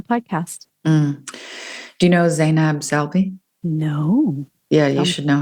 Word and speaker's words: Salbi: And her last name is Salbi, Salbi.